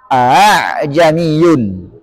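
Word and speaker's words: ءَاعْجَمِيٌّ: Yang pertama, huruf hamzah yang ditashil. Hamzah yang diucapkan antara hamzah dan alif. Kalau dalam riwayat Hafs ini cuma satu yang sangat kentara tulisannya, yaitu a'jamiyun. A'jamiyun, nggak boleh dibaca hamzah keduanya dengan tahqiq atau dengan hamzah yang sempurna tapi harus dengan a'jamiyun.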